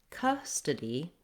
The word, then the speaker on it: custody: So in custody, da da da, we have 3 syllables. First syllable is stressed. And so I hold the cus syllable longer. It has the stressed schwa vowel. And then the td syllables are short and reduced. So you see, even though we have letter O in custody, we don't say an O or an ah sound for that letter O.